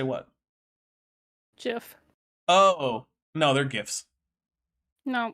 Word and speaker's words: GIF: in the minority but every time you say it with a hard g i it hurts a little bit physically say what GIF oh no they're gifs